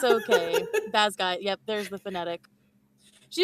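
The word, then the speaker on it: Basgiath: Um, pronunciation. How do you actually say the name of the college? Basgayath War College.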